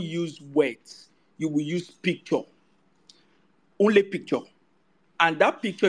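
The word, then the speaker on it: PechaKucha: so it's called a picture culture presentation um it's spelled picture um is pronounced picture but it's spelled pichakucha um it is 20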